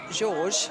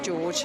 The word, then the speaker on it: Georg: It's a family name, he was telling me this morning, although his father and his grandfather were known as George, a bit more like the English pronunciation of George, but he is Georg.